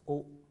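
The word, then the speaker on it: au: and form a new article a u pronounced as o but if a graph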